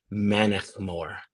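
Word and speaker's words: Mannochmore: So, this one's pronounced So, the second I suggest we start with the Bal Blair, but the second one is pronounced uh Manik Moore. Manetmore.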